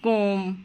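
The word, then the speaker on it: comb: আমরা কখনোই বলবো না থাম্ব কখনোই বলবো না, বলবো থাম। বিটা উচ্চারণ হবে না, বি হচ্ছে সাইলেন্ট লেটার। যেমন কোম, বোম, থাম, ক্লাইম।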